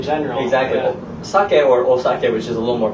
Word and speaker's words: osake: But the correct pronunciation is, once again, sake. Sake. Osake.